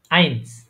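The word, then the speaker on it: eins: ই আছে হ্যাঁ আই তাইলে এটা কি হবে প্রোনাউন্সিয়েশনটা আইনস আইনস আইনস আইনস আইনস হ্যাঁ তারপরে তারপরে কি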